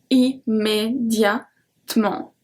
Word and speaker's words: immédiatement: Immédiatement. We don't pronounce the E.